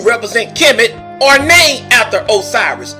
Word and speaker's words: Osiris: kemet are named after osiris the egyptian pronunciation asar so your name after